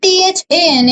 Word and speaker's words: than: This one THEN is then and THAN is than, ठीक है, then than.